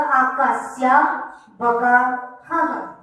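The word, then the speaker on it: आकाशस्यावगाहः: आकाश्य वगावः, आकाश्य वगावः, क्योंकि वगाह के बाद क्या लिखा है? विसर्ग, तो उसका भी प्रोनाउंसिएशन करना होगा। तो आकाश्य वगावः।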